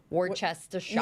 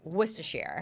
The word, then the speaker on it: Worcestershire: like obviously the way it's spelled, it looks like Worcestershire, Yup. but Worcestershire. It's Worcestershire.